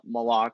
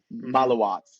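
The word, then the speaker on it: Maluach: is my fault for doing this, but I pronounced Kaman Malok like Kaman Malok, but then I watched him in the ACC tournament and I think it's actually pronounced Malawak. Malawak. Malawak. Yep. Malawatch.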